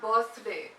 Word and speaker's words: birthday: So there's a TH there, and that's often missed. So it's pronounced as birthday. Birth, it's not birthday. It's not happy birthday. It's not happy birthday. It's happy birthday. Do not forget the TH sound.